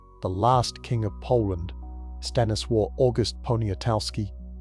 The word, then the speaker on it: Stanisław August Poniatowski: The last king of Poland, Stanisław August Poniatowski, pronounced Sta, Nii, Sław, August Ponia, Toff, Ski, was summoned to St.